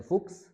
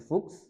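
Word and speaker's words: Fuchs: जैसे से हा एस, अब ये जहाँ पे भी आता है इकट्ठा इसको हम पढ़ते हैं इक्स। जैसे फुक्स या जैक्स, इक्स से मुराद है एक्स की साउंड, जैसे फुक्स या जैक्स।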